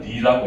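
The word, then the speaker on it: 梨: 이거를 발음을 리라고 해. 리. 그다음에 리. 그러면 핑구어는 뭘까? 핑구어. 사. 핑구어는 사가고 리는 배. 그런데 얘가 똑같이 이렇게 쓰게 되면 이별하다는 리가 돼요. 그러면 발음도 똑같이 리야.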